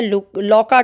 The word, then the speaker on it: Louka: इसका नाम रहता है लौका कह दो, लुका कह दो, प्रोनाउंसिएशन पे थोड़ा ध्यान ना देते, लौका, LOUKA, लौका।